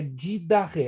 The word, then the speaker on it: Didache: Essa palavra é escrita didache, né, com CHE, mas a pronúncia é didache.